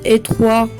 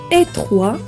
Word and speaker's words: étroit: Il fait sonner le T qui termine l'adjectif étroit et qui est muet au masculin.